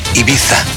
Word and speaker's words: Ibiza: And how do you pronounce Ibiza? Is it Ibiza, Ibiza? Ibiza.